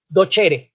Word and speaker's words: docere: Se escribe docere, pero la C en latín suena como ch. Entonces dice docere.